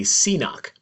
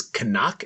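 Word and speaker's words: cnoc: And I'm going to say, and I've said before, a Seanock. The actual correct way to pronounce it is Canuck. It is actually a Gaelic word for a hill or a knoll or a hump.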